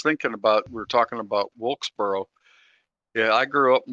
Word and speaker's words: Wilkesboro: Let me say that right. Well, maybe it's It's actually Wilkesboro. So, yeah. There you go. Don't say it like wheelbarrow.